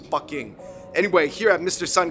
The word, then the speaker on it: Peking: talking about peking duck now why is it called peking because it's based off the cantonese pronunciation of beijing which is bucking anyway here at mr